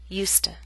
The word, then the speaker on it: used to: affirmative and the negative form have the same pronunciation USTA in contrast we keep the full vow sound